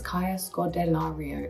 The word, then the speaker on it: Kaya Scodelario: still discovering it and I also think people don't really know how to say my name so it's easier to call me eie but it's Kaa scario it's phonetic it's scary cuz there's a lot of vowels in it but it's it's easy it's not hard this